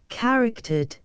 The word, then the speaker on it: charactered: The word is here accented on the second syllable, in modern English on the first.